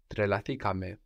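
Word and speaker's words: τρελαθήκαμε: We keep the accent third from the end. Trelathikame.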